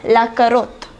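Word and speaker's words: carotte: la pom de ter the next one is la karot it means carrot the next vegetable is la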